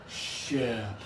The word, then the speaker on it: ship: top of our mouth, now our tongue is low. Ship. Good, Yuliya. The first time it sounded like this, but you fixed it. Open more, breathe more.